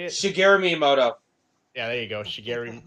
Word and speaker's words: Shigeru Miyamoto: So yeah, they the creator Singru, is that how you say it? Shigeru Miyamoto.